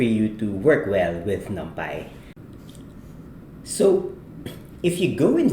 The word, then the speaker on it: NumPy: for today we will be discussing numai or other people would like to call it or pronounce it as n but seeing that it's numerical python for this course we will call it numai now numai is